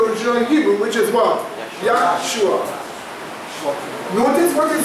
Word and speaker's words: Yeshua: If you were speaking Hebrew, you would say Yeshua. So the Hebrew would say Yeshua. The Greek would say Yusos. The English Yusos is Jesus. The Spanish is spelled the same way, but they say Jesus. But when they say Jesus, when they say Jesus, when they say Yusos or Yeshua, it's the same.